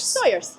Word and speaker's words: Sawyers: But if you said that to any local, they'd wonder what you're on about. Right, so how do the locals pronounce it? Sawyers. Sawyers. Yes.